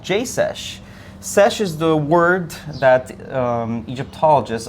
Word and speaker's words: sesh: Sesh is the word that Egyptologists, at least the way they pronounce it, for scribe in the ancient Egyptian language.